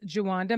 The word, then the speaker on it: Jawanda: I'm your host, Karen Guilbault, and today's guest is Jawanda. Did I pronounce that correctly?